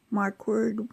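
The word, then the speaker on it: Marquardt: I are quar DT it's pronounced mark word not quite like it sounds but I know people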